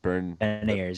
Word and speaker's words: Beniers: Matt Berniers, is that how you say it? Beniers, yeah. Matt Berniers?